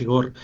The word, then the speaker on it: Igor: por el mundo y la gente lo pronuncia de distintas formas, pero bueno, aquí decimos Igor.